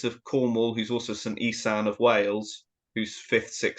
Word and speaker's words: Iestyn: Or Iestyn, as it's pronounced.